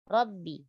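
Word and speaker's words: ربِّ: Lalu pada kata Rabbi, tebalkan huruf Ra, ya, dan jangan dibaca dengan getar yang berlebihan. Ra. Rabbi. Lalu sempurnakan sifat syiddah pada huruf ba, jangan membacanya dengan sifat rakhawah. Ya, atau dia hamas, Rabbi, ya. Rabbi. Ra tebal dan ba ditipiskan. Lalu pada kata al-alamin, jangan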